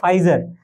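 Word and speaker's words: Pfizer: ছিল জানো নাম ছিল ফাইজার তো ফাইজারের স্পেলিং হচ্ছে পি এফ আই জেড ই আর ফাইজার সো এগুলো কিন্তু ক্যারেক্টার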